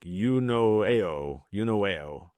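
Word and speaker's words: εὐνοέω: And it's pronounced like eunoeo. I think I'm getting that pretty close.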